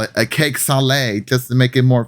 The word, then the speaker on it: salé: It's the cake salé. It's like cake sale, but the accent on the E exists.